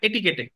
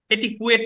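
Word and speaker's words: etiquette: conduct and এটিকেট এটারে এটিকেটে এটি কুয়েট না এটার উচ্চারণ কি হবে এটিকেট বার কাউন্সিল পরীক্ষার জন্য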